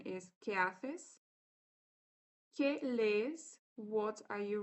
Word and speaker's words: qué haces: Or the correct Spanish pronunciation is ¿qué haces?